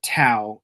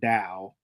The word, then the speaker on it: Tao: Elsewhere, Ryan learns that he's now on the magical world of Dao and everybody calls it Tao, even though the word is pronounced like Dao because it's a phonetic spelling.